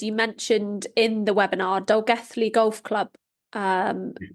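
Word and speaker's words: Dolgellau: And one of the cases you mentioned in the webinar, Dolgethley Golf Club. You pronounced it right.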